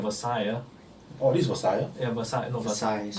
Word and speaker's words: Versailles: Oh, this is Versailles? Yeah, Versailles, no, Versailles, whatever you can pronounce it. The behind part is silent.